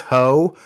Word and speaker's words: Heaux: There's a song called These Ho, but it's spelled Heaux, like it's French.